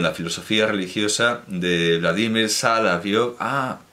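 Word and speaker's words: Соловьёв: como Bulgakov, Vladimir Sala, no sé si lo estoy pronunciando bien, yo digo. Sí, un segundo, que tengo que ver dónde está el acento, pero creo que se pronuncia Salavyov. Sí, Salavyov.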